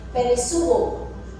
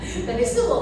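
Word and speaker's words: περισσεύω: Ang lavish daw po ay peresuo. Kahapon, nung nagpe-prepare po kami ng lesson, natinig ni Daddy David, asama si David, peresuo. Peresuo, pati siya peresuo. Kasi kung inaalam ko paano po ito bigkasin. Peresuo.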